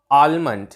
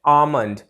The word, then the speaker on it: almond: आलमंड इसकी pronunciation नहीं होती। इसकी जो करेक्ट प्रोनाउंसिएशन है वो है आमंड। ध्यान से सुनिए, आलमंड, मैंने पहले क्या बोला? आलमंड, जिसमें एक ल का साउंड आ रहा है। अब मैं करेक्ट प्रोनाउंसिएशन क्या बोल रहा हूँ? आमंड, जहाँ एल का साउंड साइलेंट है, आमंड। तो करेक्ट प्रोनाउंसिएशन आलमंड नहीं आमंड ऐसे होगी, एल का साउंड साइलेंट रहेगा, आमंड, आमंड, आमंड।